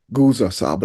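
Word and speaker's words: Nguzo Saba: Gua Saba. The N is silent, right?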